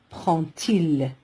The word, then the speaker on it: prend-il: Faites attention, quand le verbe se termine par un D comme le verbe prend, le D se prononce T. Donc on ne met pas de T entre lui et le pronom sujet il. Et on lit prend-il.